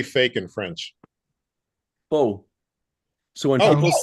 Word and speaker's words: faux: Faux.